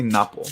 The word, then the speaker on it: Napo: I'm gonna say Napo because that's the Spanish, the correct pronunciation of the vowels there.